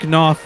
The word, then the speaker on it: Knopf: Jack Knopf would be the appropriate pronunciation.